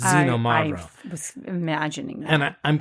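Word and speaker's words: Xinomavro: particular called zenom mavro it starts with an X but it's xenom mavro was imagining that and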